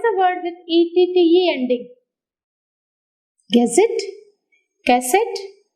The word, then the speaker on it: gazette: Where do you put the syllable? On the last syllable.